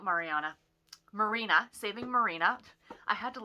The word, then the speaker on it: Marina: So the first book I finished this week was Saving Mariana, or not Mariana, Marina, Saving Marina.